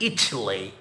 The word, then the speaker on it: Italy: A city in Italy. وهنا قلنا it مش Italy لأن هنا التي واقعة في stress syllable يقولوا لها تي مش دي.